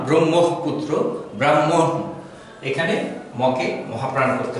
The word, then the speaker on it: ব্রহ্মপুত্র: ব্রহ্ম ব্রহ্ম ব্রাহ্মণ ব্রাহ্মণ এই শব্দ দুটি বা ব্রহ্ম পুত্র এখানে খেয়াল রাখতে হবে ম কে যদি আমরা